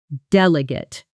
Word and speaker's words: delegate: Delegate. As a verb, it means to give a task or responsibility to someone else, and it's stressed on the last syllable, with the ending sounding almost like gate.